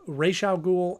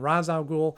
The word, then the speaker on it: Ra's al Ghul: yes I think there there is a pronunciation of racial Ghul and Ra's al Ghul and in this movie